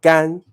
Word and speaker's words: 干: pay attention to is remember that's the first tone gan first gambe is not gambe no can be because whenever you pronounce the word with the fourth stone gan it means to do or to work okay so this gun